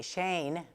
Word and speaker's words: Shein: Estábamos hablando de tiendas digitales y es el caso de Shein, que se escribe Shane en español, está enfrentando críticas porque también eh la están acusando de tener un algoritmo compulsivo a la compra.